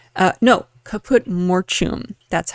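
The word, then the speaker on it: caput mortuum: So I do a little quick deep dive on it's called the color is called kaput mortum. Uh, no kaput mortum. That's how to pronounce it.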